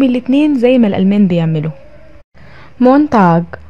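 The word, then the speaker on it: Montag: مونتاج، مونتاج الاثنين.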